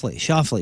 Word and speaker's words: Schauffele: Xander, is it Schauffele? Schauffele.